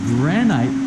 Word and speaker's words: granite: And I say GRAN-NITE, somebody made a mention, GRAN-NITE is how they pronounce it here in the Philippines. GRAN-IT is how we pronounce it in the US.